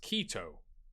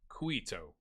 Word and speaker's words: Quito: He thinks it's pronounced Quito, not Quito.